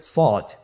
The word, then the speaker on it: صاد: শুরুতে আমরা শুরু করছি সদ। সদ হরফটি পুর হরফ, মোটা হরফ, উচ্চারণের ক্ষেত্রে মোটা করে পড়তে হবে এবং উচ্চারণ করার সময় 3 আলিফ টেনে পড়তে হবে।